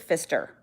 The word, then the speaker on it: Pfister: always act surprised but it is actually pronounced Fister so sister Pfister which